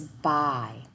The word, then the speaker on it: by: But our y makes the sound I.